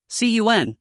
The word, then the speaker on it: Cun: Cun, this is pronounced like swoon instead of con.